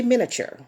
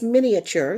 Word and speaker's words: miniature: first word many ature most people just say miniature but the word is miniature there is an A there and the word means